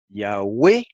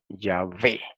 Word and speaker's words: Yahweh: Las dos formas son correctas. Yahweh o Yahvé. ¿Por qué? Simplemente que Yahvé es la forma del hebreo moderno, aunque los judíos nunca pronuncian el nombre.